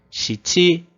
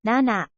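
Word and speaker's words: 七: A outra forma é nana. Então, nana. Ele é o número 7 e ele vai ser mais utilizado para o número do telefone.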